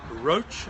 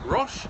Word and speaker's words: Roche: you my name is roach and that's spelled like the medicine brand r-o-c-h-e rosh if you prefer r-o-c-h-e my email address